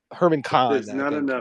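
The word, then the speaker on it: Herman Kahn: guy okay that makes a lot more sense Herman Khan is how you pronounce it um yeah but Michael Hudson Michael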